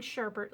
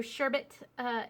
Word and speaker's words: sherbet: Like, I've been really enjoying sherbet lately. So sherbet is, I've always pronounced it with an R. There's no R in that word.